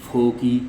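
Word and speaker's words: foci: एंड f2 are called the फोकी फोकी की spelling है एओ सी आई आई यह दोनों के लिए प्रयोग किया गया यह प्लूरल है अदर वाइज इसे हम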